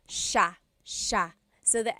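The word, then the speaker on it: siya: the pronunciation it looks like it should be pronounced sa cia but it's actually pronounced sha sha so the s i y it's a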